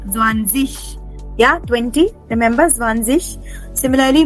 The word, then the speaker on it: Zwanzig: Remember, dig will not be dig, but dish. Yeah, like Zwanzig.